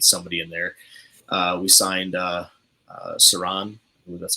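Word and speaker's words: Siran: We signed Saran, that's how it's pronounced.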